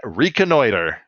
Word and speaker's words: reconnoiter: Yeah, reconnoiter. And Yeah. that's how it's pronounced.